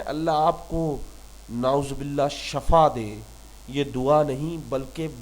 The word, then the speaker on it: شفا: تو اپنے لفظوں کو بہتر بنائیں اور صحیح تلفظ کی عادت ڈالیں۔ شفا صحت، شفا صحت، شفا صحت، یاد رکھیے گا۔